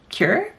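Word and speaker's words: cuir: out slide sandal and and cure I think it's how you pronounce it it's here leather so c-u-i-r might be pronouncing that wrong uh more than likely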